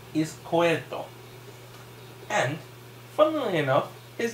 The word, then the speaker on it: Izquierdo: Oh, it's Izquierdo.